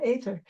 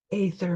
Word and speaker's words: aether: In America, a lot of people say ether and just spell it with an e, but it's actually a e as one letter together. Uh, so I say it as etherether the way the Europeans do so that you don't